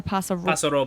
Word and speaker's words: Paso Robles: Paso Robles or Paso Robles?